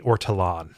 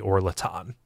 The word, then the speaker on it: ortolan: That bird I was thinking of before was the ortolan, not the orlaton. I transposed the two syllables, and for that I am deeply sorry.